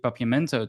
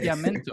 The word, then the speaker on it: Papiamento: Now, in general, my parents used to speak Papiamento to us.